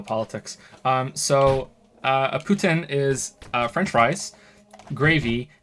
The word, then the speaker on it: poutine: or maybe or like it's actually pronounced Putin but uh but everywhere else apart from Montreal and apparently um uh Moncton uh say poutine but it's meant to be Putin like uh like um